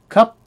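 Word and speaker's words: ครับ: Now, cup is normally spelled K-R-U-P, or K-R-A-P, or K-R-U-B, K-R-A-B.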